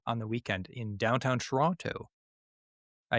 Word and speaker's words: Toronto: They said, "Oh, it's great to be here in Toronto." And I'm like, they're clearly not from here. We say Toronto. You're not from around here, are you? We don't pronounce the second T.